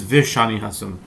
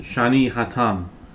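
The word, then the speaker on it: ושאני התם: Actually, in our in our amud it says v'shani chasam. Or some people pronounce it shani chatan.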